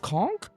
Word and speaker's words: conch: conch it's called a it's pronounced conk yeah like conch shells oh damn I might